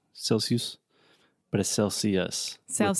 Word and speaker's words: Celsius: students I've heard say Celsius Celsius but a Celsius schwa sound at the end cool and how do